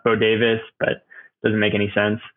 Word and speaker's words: Bodewes: name is B- o d Wes which is pronounced bod Davis but doesn't make any sense um so yeah bavis on Instagram and that's pretty much the only